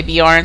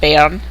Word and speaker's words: Beorn: pronounce some people say beor some people say Bon but um I'm pretty sure it's pronounced Bon but I say beor um but yeah I